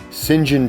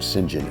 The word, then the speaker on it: St John: Circus was run by singen Terell which is spelled St John like St St John and that became his name singen s i n j